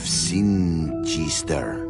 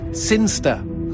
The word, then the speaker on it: Sinister: But Elliot Thomas was still stuck down on Earth in the boring town of Sinister. Sinister. Sinster. What? It's pronounced Sinster. How do you know? My cousin's from Sinster.